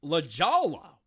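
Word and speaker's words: La Jolla: Hub website today Dan bublets comedy Productions it's pronounced La Jala with Jade Rose that's what's coming up on the art of bombing episode 280.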